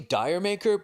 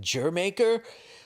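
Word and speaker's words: D'yer Mak'er: It's actually Diremaker, but you're supposed to pronounce it Jermaker.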